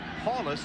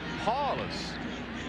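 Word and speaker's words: Powlus: paulus it is not paulus even though that's the way it's spelled it is pronounced paulus paw just remember the big paw ron paulus now remember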